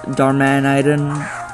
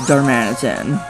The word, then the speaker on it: Darmanitan: like it's like that you can say darman dharmanitan or darman iden but no it's darmanitan um razor shell thing